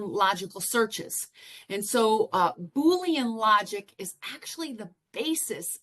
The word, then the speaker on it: Boolean: such a weird name and that's how you pronounce it is Boolean I've heard a lot of people pronounce it boene but that looked up the definition and the pronunciation it is actually Boolean and it actually comes from you see his